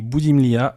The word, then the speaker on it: Boudimlia: En version originale, c'est Vassilie pour le prénom et Boudimlia pour le nom de famille.